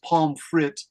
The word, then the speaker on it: pomme frite: Pomme, this is pronounced pomme frite.